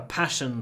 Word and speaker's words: passion: learning we have a passion for food so passion it's about stressed passion try to make the a very short passion passion and there is